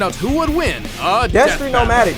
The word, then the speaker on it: Destry: who would win a Destry nomadic. That's how you say it, bro. A lot of people be like, destroyed.